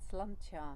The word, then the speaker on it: Sláinte: The only word I'm able to say is slancha. Do I pronounce it well?